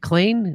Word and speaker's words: Klain: How do you say? Is it Klein? Ron Klain.